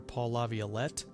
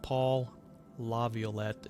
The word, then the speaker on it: Laviolette: If you just look up Paul Laviolette, it's like Violet, Violette, La Violette.